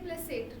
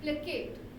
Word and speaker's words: placate: अब इसको कई लोग प्रोनाउंस करेंगे प्लेसेट. नो, इट इज प्लेकेट. जैसे के का साउंड जहाँ पे है, इट्स नोन एज प्लेकेट.